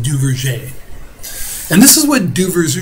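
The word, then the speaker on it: Duverger: I know it's spelled Duver's, but it's actually pronounced Duvier.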